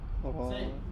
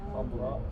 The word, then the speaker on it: خضراء: خضراء. Don't be scared. خضراء. Huh? خضراء. Come on. خضراء. So fatha, sukun, fatha, alif and hamza.